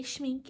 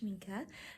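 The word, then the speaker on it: Schmincke: new shminka watercolors how that works I say schmink in the video but it's actually pronounced schinka so enjoy Also you'll see this is a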